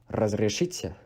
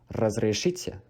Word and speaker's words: разрешите: And for excuse me, this one is a tricky one if you cannot pronounce the trill. Excuse me in Russian is разрешите, разрешите.